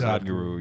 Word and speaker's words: Sadhguru: But so Sadhguru, I'm probably saying his name wrong. Sadhguru. Sadhguru, yeah.